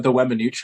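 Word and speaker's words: Weminuche: You go ahead and pronounce it for me. The Wemanooch high route, that one.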